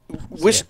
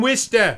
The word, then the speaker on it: Worcester: Wister, yeah. All that. Say it again. From Wister. Right, and that's spelled Worcester or something.